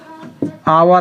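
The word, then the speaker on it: hour: है right first वाला आवर आ रहा है आवर में क्या आ रहा है एच का आवर आ रहा है एच यहां पर साइलेंट रहता है है यहां पर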